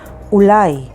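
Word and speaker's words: אולי: with haf lamid lamet yod and means general ulai spelled with vav lamed yud and means maybe tioul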